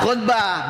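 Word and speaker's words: خطبة: Yang pertama khnya di domah domah bacanya khud khbah khutbah berarti orang yang ngomong dong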